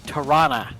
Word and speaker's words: Toronto: like it's spelled but a lot of people say tarana I don't know why But they ignore the o and replace it with like an a so instead of Toronto